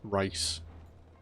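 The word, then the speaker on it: Rais: But yeah, they want us to head upstairs and give them the Antizin that we got off Rice. Because that's how apparently you say his name.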